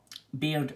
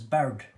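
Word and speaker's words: Baird: have jamie beard but beard is also pronounced as bird so you have jamie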